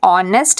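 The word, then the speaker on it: honest: जैसे एच का अगर एच कहीं पर साइलेंट है ऑनेस्ट आ रहा है तो वो भी वर्बल साउंड माना जाता है है ना सो एन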